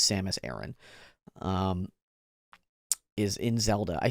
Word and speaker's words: Samus Aran: day that you learned it's not pronounced Samus Aran I'm sorry but it is Samus Aaron um is in Zelda